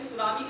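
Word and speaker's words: tsunami: ऐसे ही सुनामी के पहले क्या लगाया जाता है? टी लगा दिया जाता है।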